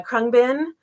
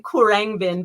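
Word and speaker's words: Khruangbin: the year and uh krungbin uh is a nearly impossible to pronounce name it looks like kurang bin but it's krungbin and apparently it's a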